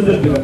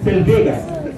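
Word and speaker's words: Zellweger: لكن كل الكليه يا بنتي يا جوليا بيقولوا زيلفيجر، فاحنا شغالين مع الكليه يا بنتي ولا لا؟ لكن ما اسمهاش زيلفيجر. زيلفيجر ده نطق خاطئ، سلفيجا. اسمها سلفيجا سندروم، بس انت طبعا لو قلت لهم سلفيجا الناس كلهم مش هيعرفوا.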